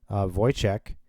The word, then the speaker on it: Wojciech: His name is Wojciech. That's actually how you pronounce his name.